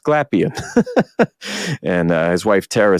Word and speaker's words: Glapion: And I realized when I heard Mandy from Comic Sketch Art say his name that I've been saying it wrong all these years, but it's pronounced Glapion.